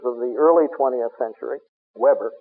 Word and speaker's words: Weber: Weber, the English pronunciation, Weber, the German.